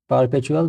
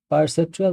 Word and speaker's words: perceptual: of perceptual music sharpening I was pronouncing it wrong my bad so use of perceptual music sharpening remove sounds